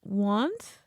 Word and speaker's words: wont: And it's pronounced want? WONT.